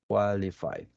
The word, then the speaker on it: qualified: students to become qualified qualified you don't pronounce the e in terms is a